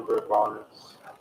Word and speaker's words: Bourbonnais: everybody in fucking town has to scrape their fucking lawns off the fucking property because the grass is shit in bourbonnais.